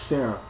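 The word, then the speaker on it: Serara: say her name but her name is spelled s e r a r a but it's pronounced Sarah we get to see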